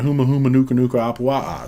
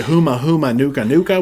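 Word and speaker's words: Humuhumunukunukuāpuaʻa: The first few vlogs, I said Huma Huma Nuka Nuka, which is not correct.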